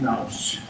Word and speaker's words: nous: From that, bythos comes down, emanates something which is called, again, the English pronunciation is nous.